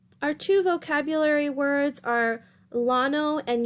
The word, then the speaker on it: Llano: two vocabulary words are Llano and Yano that's the same word pronounced different ways a lot of the times the double-l in spanish is pronounced with a yacht sound anyway the Llano or